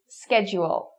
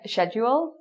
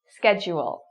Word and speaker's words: schedule: So maybe in Britain you'd hear something like schedule. I could be saying that wrong. I'm not British, but in North American it's schedule. Okay? So say that, schedule. And try to focus on the J sound.